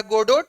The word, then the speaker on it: Godot: Jacques Chirac, ऐसे word गोडो, French word है, लिखा है गोडोट बट इट is pronounced as गोडो।